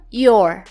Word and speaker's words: your: atau Anda adalah your cara membacanya your dengan huruf r dibaca samar-samar saja ya Dalam penggunaannya kata your